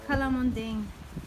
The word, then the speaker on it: calamondin: How do you say this? Calamonding. Calamonding? Yes. Like dingbat? Yeah.